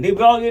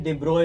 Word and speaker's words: de Broglie: डी ब्रोगली नहीं, डी ब्रोई बोलते हैं इसको। डी ब्रोगली लोग बोलते हैं इसको, डी ब्रोई बोलते हैं बच्चों, एक्चुअल प्रोनाउंसिएशन।